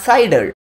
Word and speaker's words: CIDR: is classless interdomain routing it is cider cidr it is pronounced as cider why do we need